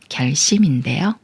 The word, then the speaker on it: 결심: 빛이라고 읽어요 별빛이 말은 결심인 결정하는 마음이에요 그러니까 결이 꾸며주는 말이고 꾸며주는 말에 리을 받침이 초성 시옷 만났으니까 초성 시옷이 쌍시옷 소리인 스가 되면서 결심이라고 읽어요 결심 이말은 증인 말은